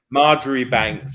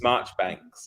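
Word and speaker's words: Marjoribanks: this kind of thing marjerie Banks his March banks these things so it's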